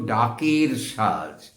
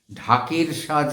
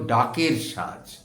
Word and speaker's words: ডাকের সাজ: রাংতা আসতো বিদেশ থেকে জার্মান থেকে আসতো এই রাংতা ডাক যোগে আসতো ডাক যোগে আসতো বলে লোকে বলতো ডাকের সাজ ঢাকের সাজ নয় ওটা ভুল উচ্চারণ একে বলা হতো ডাকের সাজ এই রাংটার পাতা কেটে